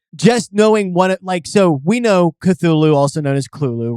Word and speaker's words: Cthulhu: I believe Lovecraft said that the closest he would say is Thulu. Okay. Or Cthulhu is another one that I believe he had said at one time.